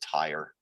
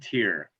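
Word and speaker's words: Tyr: Thank you for pronouncing that for me, because I was going to pronounce it tire.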